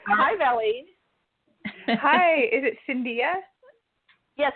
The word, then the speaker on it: Cindia: Is it Cindia? Yes, it's Cindia. It just rhymes with India with a C in front of it. Cindia.